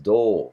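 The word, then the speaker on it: 銅: Copper in Japanese is pronounced do.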